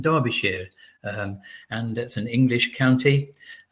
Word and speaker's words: Derbyshire: county called Derbyshire um if you would look at it you'd probably think it's um pronounced Derbyshire but Derbyshire and that's an English